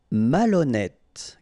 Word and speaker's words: malhonnête: Malhonnête. Okay, remember, H doesn't exist, so malhonnête. Don't insist on the final E. Malhonnête. And here you get E accent circonflexe, so you pronounce it like E.